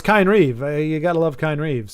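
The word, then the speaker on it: Kynesgrove: It's Kine Reeve.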